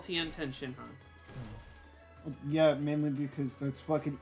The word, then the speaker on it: Tenshinhan: in Tien isn't his name at all. It's Ten. No, it's Tenshinhan, like all one Yeah.